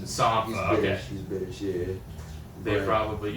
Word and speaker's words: Sampha: I think it's pronounced Sampha because he's Sampha.